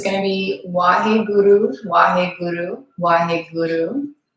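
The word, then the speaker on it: Waheguru: So this is sort of the pronunciation here. Wa. You want to get the kind of sound with it. Wahe Guru.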